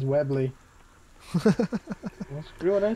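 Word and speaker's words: Webley: yes I found it I think it's webly isn't it is it have I been pronouncing it yeah it is webble well screw what I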